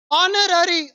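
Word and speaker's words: honorary: ऑनररी, ऑनररी, H silent है इन दोनों में, है ना।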